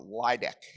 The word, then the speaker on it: LAEDC: uh development corporation or laidc I think is how you pronounce that acronym.